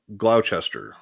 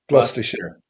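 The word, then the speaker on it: Gloucester: Is that Did I pronounce it? Did I completely butcher it? Yeah. That's That's Glster. It's what? Glasture.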